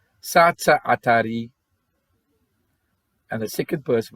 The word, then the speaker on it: satsa: want to say that the mail word for you is satsa satsa it's spelled is a tsa satsa and the female word